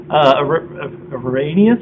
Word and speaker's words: Arrhenius: Arrhenius acids? Yes, that's how you pronounce it. Arrhenius acids.